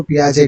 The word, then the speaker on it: Piaget: तो आपको इतना ज़्यादा ध्यान नहीं देना है, आपको इसको वाइगॉट्स्की ही कहना, इसको पियाजे कहना, ठीक है ना। लास्ट का जो टी है वो साइलेंट हो जाता है।